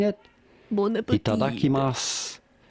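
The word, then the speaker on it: いただきます: Itadakimasu. The U at the end is silent, or you can consider it so. Itadakimasu.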